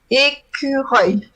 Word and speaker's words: écureuil: So it has that a sound that I think is pretty much French. It sounds œil, écureuil. Wow. So that's a hard one to pronounce for Americans because you have the R. I think I've told you about the R that is really deep down in your throat, as if you were gargling, with water.